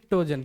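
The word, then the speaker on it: pnictogen: बताया ठीक है भाई टोजन पी साइलेंट है पी साइलेंट है निक टोजन पर लिखाता है पी एनई पर पी को पढ़ना नहीं है प साइलेंट रहेगा क्लियर है चलो भाई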